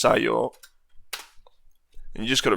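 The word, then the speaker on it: 作用: So instead of being sakuyo, it's just sayo.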